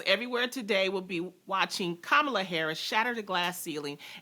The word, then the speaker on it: Kamala: she pronounces her name it's kamala y'all comma pamela as a person of